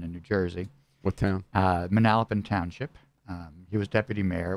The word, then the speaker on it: Manalapan: Manalapan. I guess Manalapan, but we pronounce it our own way in New Jersey.